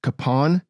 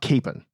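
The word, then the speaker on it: Kapaun: father kon's name yes apparently it is in fact pronounced Capon not Capen accounts differ as to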